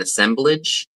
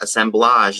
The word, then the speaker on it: assemblage: Maybe they could put it in an assemblage. I actually learned that assemblage is not the right way to say it. It's assemblage.